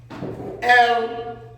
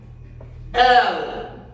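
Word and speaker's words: אל: Ela, quem não conhece, tá bom? Ou quem não sabe pronunciar, vai pronunciar ela. No entanto, é el. El, ó, que bacana.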